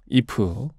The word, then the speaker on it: 2F: 직접 참여를 했구요 예 이프 에 첫 번째 미니앨범 ei f 이프 지금 저희가 그 팀 이름으로 말한 잎은 에 숫자 2와 f 4 발음입니다 예 4 요 어떠한